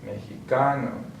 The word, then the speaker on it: mexicano: So we're going to stress on the second to last syllable. Mesa, mexicano, gracias, okay?